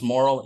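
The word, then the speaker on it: Moehrl: um it's I think it's pronounced moral m-o-r-e-h-l versus National Association of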